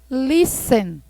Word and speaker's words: listen: Listen. Tem esse Tzinho, mas não pronunciam ele, tá certo?